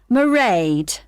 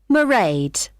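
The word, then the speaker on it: Mairead: It's M A I R E A D. Merade. Okay, got that. It's not a name I'm familiar with. Oh, it's an Irish name.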